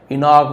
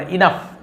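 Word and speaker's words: enough: वाज़ नॉट इनफ सपने देखना पर्याप्त नहीं इसे इनफ पढ़ेंगे इनोग विनोग नहीं पढ़ इनफ only action could keep a dream alive केवल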